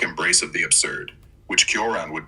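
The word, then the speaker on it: Cioran: Emil Curon, pronounced roughly Churon, is a fascinating case because his philosophy is so bleak, yet his personal life wasn't as grim as you'd expect.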